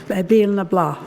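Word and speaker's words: Béal na Bláth: Now it's spelled B-L-A-T-H, but they say Bale na Blah in County Cork.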